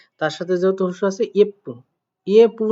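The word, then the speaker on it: 예쁘: তাহলে আমরা এখানে লিখব ইয়েপু। দেখেন যেহেতু এখানে সাংবিপ আছে তার মানে পয়ে পয়ে মতো উচ্চারণ হবে। ঠিক আছে? তার সাথে যেহেতু হুসু আছে ইয়েপ্পু।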